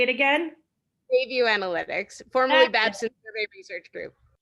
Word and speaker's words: Bayview Analytics: Yeah, so looking at the research, the background research, the Bay Analytics Group, I always get the name wrong, but they do, say it again? Bayview Analytics, formerly Babson Survey Research Group.